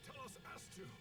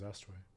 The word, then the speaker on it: Telos Astu: Look, it's Telos Astu. Oh, I've been saying it wrong. Tell us Astu, I guess. Thought it was Astway.